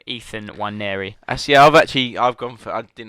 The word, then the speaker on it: Nwaneri: Yeah, no, I did do some homework on how to pronounce the name because it's a silent N. I think he must be from African heritage, but he's an English. He's played for England youth levels, so silent N. Nwaneri.